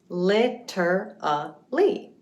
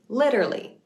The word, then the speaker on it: literally: It looks like literally, right? But when we speak naturally, we end up chopping off a syllable and it becomes literally.